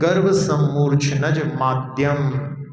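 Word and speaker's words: गर्भसम्मूर्छनजमाद्यम्: लिए बता रहे हैं गर्व सम मूर्च नज माध्यम इसका उच्चारण में जो है ध्यान से गर्भ सम मूर्च नज माध्यम हा तो जिनका गर्भ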